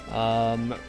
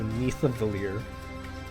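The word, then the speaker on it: Niðavellir: But otherwise, Nidavellir, or Neithavalir. I think I've been calling him Nidavellir, but the D symbol is actually kind of pronounced like a TH. So Neithavalir is sharing with the other FE8 characters.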